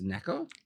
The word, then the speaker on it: Nneka: How do I pronounce this? Nneka?